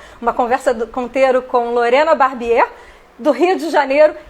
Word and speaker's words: Barbier: Eu falo Barbier, né? Que é a pronúncia em francês.